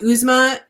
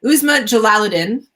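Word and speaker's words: Uzma Jalaluddin: aisha at last by usma now i've been practicing how to say her name and i goofed it up uzma jalaladin she has written a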